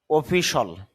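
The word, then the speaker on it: official: অফিস দপ্তর বা কার্যালয় অফিসার কর্মকর্তা বা অফিসার অফিসল এই শব্দটা যদিও আমরা উচ্চারণ করে থাকি অফিশিয়াল এভাবে উচ্চারণ হবে না।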